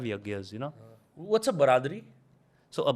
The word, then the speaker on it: baradari: So a baradari is baradari, so literally Baradari. bara and dari, it's basically entrances. So there would be 4 entrances, 4 sides that will be open. Okay, I thought you Yeah. guys mispronounced biradari. No, baradari is it's a Persianate term which basically means, imagine an open pavilion, but with 4 sides open.